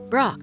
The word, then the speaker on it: Brok: ahead say my name it's pork of course no it isn't brock chief i thought you